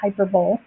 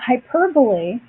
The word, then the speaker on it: hyperbole: hyperbole and I know people like to call it hyperbole I did for a little while myself and then I learned how to say it but hyperbole do you remember what